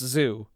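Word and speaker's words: Zu: Well, the most convoluted way to say her name, because she says, it's like kazoo, but if you spelled it with a U, but also just zoo.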